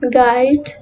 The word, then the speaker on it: guide: Rule 1. Letter U is silent when it comes after G and before a vowel in a word, as in guide, guest, guess, guard.